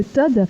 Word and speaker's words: TOD: Voilà, on prononce bien Todd, on n'est pas Oui. TOD. On prononce Todd, effectivement. Voilà, donc vous révolutionnez, enfin en tout cas vous voulez révolutionner le recrutement.